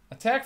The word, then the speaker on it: ATT&CK: against them there's several attack Frameworks that we might use one of them is the miter attack framework it's the miter ATT and CK which is usually just pronounced as attack has 14 different techniques